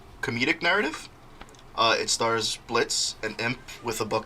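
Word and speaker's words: Blitzo: characters first we have blitz b-l-i-t-z-o but the o is silent he is an ex-circus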